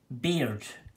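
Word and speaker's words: Baird: little and scotland we have a surname called beard b-a-i-r-d so you could have jamie beard but beard is also pronounced as bird so you have jamie bird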